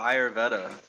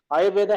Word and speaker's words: Ayurveda: might say it's How do you feel weird, about but how do you feel about Ayurveda? Am I saying it right? I don't know exactly how to say it. yeah, Ayurveda, it helped a lot.